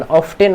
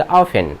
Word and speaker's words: often: गलती से भी इसका प्रोनाउंसिएशन ऑफ्टेन मत करना है स्टूडेंट। क्या बोलेंगे? ऑफेन, ऑफेन, ऑफेन। या सिंपली तुम लोग बोलोगे तो ऑफेन बोलो, लेकिन कम से कम ऑफ्टेन तो मत बोलना, ठीक है ना।